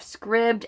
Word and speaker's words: Scribd: a video of the founder and CEO of Scribd and he pronounces it Scribd I was wondering because I've